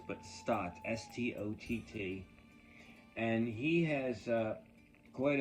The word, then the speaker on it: Stott: And this is by Raymond Toole Stott, not Scott, which is often mispronounced, but Stott, S-T-O-T-T.